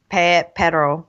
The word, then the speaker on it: pero: Pero. But pero, you need to roll your R in order to make the two different words.